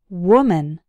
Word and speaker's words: woman: In the singular form, the first syllable sounds like w, w, woman.